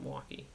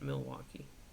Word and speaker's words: Milwaukee: Although Milwaukee, honestly, is everybody who lives in Wisconsin is going to call it Milwaukee. May as well spell it MW at this point. Only newcomers to the state actually call it Milwaukee.